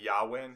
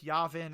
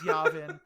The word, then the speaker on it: Yavin: to ignore that one for saying yawin instead of Yavin okay okay it's Yavin it's Yavin well I mean hey